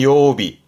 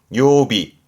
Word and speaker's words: 曜日: 발음은 요비. 요비 요일의 요자 그래서 앞에 붙이면 그렇죠.